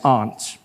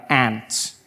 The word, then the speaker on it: aunt: For instance, I pronounce the opposites of uncle as aunt. And I say my aunt. Out here you say my ants. Which to me is an insect.